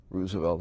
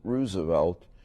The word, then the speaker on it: Roosevelt: I dabbled a little bit in high school politics at Roosevelt High School on the northwest side of Chicago. I pronounce it Roosevelt rather than Roosevelt because it was named after Teddy.